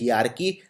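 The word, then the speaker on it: hierarchy: इसको बोलते हैं हयारार्की। लिखते हैं हेरार्की।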